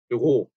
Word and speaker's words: Büro: 이것도 우 umlaut는 ü. 자, 위하고 달라요. 위라고 발음하면 우 다음에 이가 되면서 입이 벌어지죠. 위 이렇게 이하고 벌어지잖아요. 근데 그게 아니라 입 모양은 그대로 둬야 되기 때문에 우 다음에 으, 이렇게 됩니다. 그래서 뷰, 뷔하고 달라요. 자, 우리말로 이렇게 뷔라고 쓰면